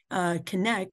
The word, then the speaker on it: Cennec: So Cennec, we do pronounce that like connection, but with an emphasis on that C-E-N-N-E-C.